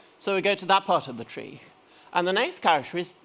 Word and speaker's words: trie: Tree, as in T-R-I-E, tree, mind you.